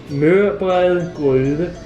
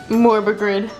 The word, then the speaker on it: Mørbrad: You speak Danish. Mørbrad. I said morbagrid.